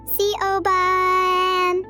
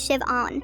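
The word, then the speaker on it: Siobhan: Hildenbrand, I've asked you like a hundred times, but my name is Shivon. The H is completely silent.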